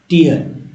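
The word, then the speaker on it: tier: ए 3 टीयर, टीयर को टीयर नहीं टायर पढ़ते हैं लोग, किससे 3 टायर क्वासी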